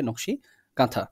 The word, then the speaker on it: নকশী কাঁথা: নকশী কাঁথা বা কাঁথা লেখা রয়েছে বাট এটার উচ্চারণটা হচ্ছে নকশী কাঁথা ঠিক আছে এখন এইখানে দেখেন কয়েকটা কি ওয়ার্ডস